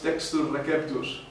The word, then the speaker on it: textus receptus: estudiaste latín recordaréis que la c en latín suena K Así que no decimos César decimos caesari y decimos textus Reus por esto Ese es